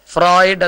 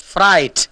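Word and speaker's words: Freud: ഫ്രോയിഡ് എന്നല്ല ഉച്ചാരണം, ഫ്രൈറ്റ് എന്ന് പറയൂ.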